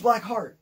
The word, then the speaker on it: Blackheart: Not that I care or anything, but you've been saying his name wrong. Oh, no. I've been saying it right. It's Blackheart. Because I'm going to rip.